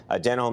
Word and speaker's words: Denholm: so Robin denim denim Dan denim oh that that is how you say it spelt D and H Oh LM now just who is